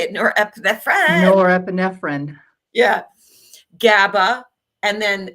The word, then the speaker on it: norepinephrine: um the catacomines which is dopamine, adrenaline or nepinephrine. I can always not pronounce that very good. Yeah. How do you how do you say it? Norepinephrine.